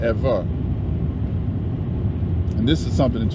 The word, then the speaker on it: Eber: b sound okay so that ever or eber what they pronounce ebird really should have been ever and this is something